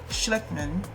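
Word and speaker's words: Schectman: The dire scenario is a forecast of Andy Schleckman, yes, that's how you say it, president and owner of Miles Franklin and an expert on monetary and economic history.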